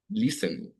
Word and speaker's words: listen: Listen. Okay. The T is silent and take.